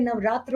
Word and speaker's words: नवरात्र: वैसे तो हम लोग दिन में पूजा कर लेते हैं, पर नवरात्रि की जगह नवरात्र होता है, सही उच्चारण नवरात्र कहलाता है।